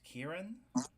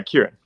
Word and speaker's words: Kiran: So, and your name is pronounced Kieran. yeah, Kieran.